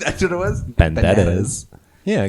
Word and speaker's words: Banderas: Banderas. Yeah, because like the R's are kind of like a d sound. Yeah, Banderas. It's like a B, a V. Banderas.